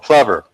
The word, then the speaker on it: Plover: And for some reason, you're supposed to pronounce it plover. And I saw a science show where the scientists were calling the birds plovers, but we're supposed to say plover. I don't know why.